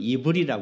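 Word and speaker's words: עברי: 히브리인 예 이브리 어 히브리 발음으로는 이브리 합니다 이브리 이브리 아바르 그래가지고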